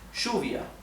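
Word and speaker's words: lluvia: Argentina in the Uruguay the word for rain which in Spanish is Juvia okay in Argentina and Uruguay is pronounced shovia so if you ever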